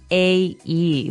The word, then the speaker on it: sundae: So, as you can see, the word is pronounced exactly like the day Sunday, but it has a different spelling in the end. Sundae, sundae.